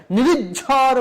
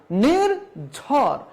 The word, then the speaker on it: নির্ঝর: যেমন নির্জন, নির্জন, এই যে এরকম বলা যাবে না, নিরিব্বান বলা যাবে না, দ্বিত্ব উচ্চারণ করা যাবে না, নিরিজ্ঝর বলা যাবে না। তাহলে কি বলতে হবে? নির্জন, নির্বাণ, নির্ঝর।